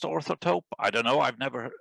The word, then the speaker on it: Orthotope: that i wrote called taupe i think it's pronounced orthotope i don't know i've never heard anyone say